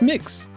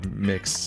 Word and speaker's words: Mx: yeah same character and how do you pronounce MX it's mix is it just makes yeah I suppose instead of Mr or Miss they say mix and I'm like I